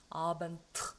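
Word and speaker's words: Abend: 요거를 내가 무성음으로 좀 해야 되겠다. 그러면 느의 무성음이 뭐겠어요? 트가 되거든요. 똑같은 위치에서 성대가 울리느냐 성대가 울리지 않느냐 그 차이만 가지고 구분되는 게 느와 트거든요. 그래서 아반트 이렇게 되는 거예요.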